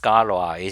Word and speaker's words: Galois: It's supposed to be pronounced Scalois.